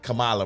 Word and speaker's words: Kamala: Kamala, bro. You been pronouncing it wrong.